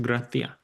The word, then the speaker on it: gracias: So the word gracias would be pronounced graatia.